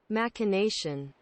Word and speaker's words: machination: say that word machination is it a hard c action looking it up all right i'm sorry i didn't know it last time i don't know now machination and he caught on